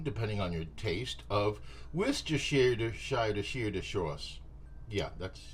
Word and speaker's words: Worcestershire: About a teaspoon to a tablespoon, depending on your taste, of Worcestershire sauce. Yeah, that's how you pronounce it.